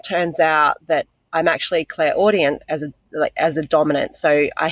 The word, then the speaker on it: clairaudient: said that you found out that you were, clairaudio, or however you said it. Is that correct? Am I saying it correctly? Clairaudio? Clairaudient.